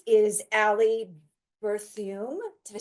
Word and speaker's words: Berthiaume: And to her right is Allie Berthiaume.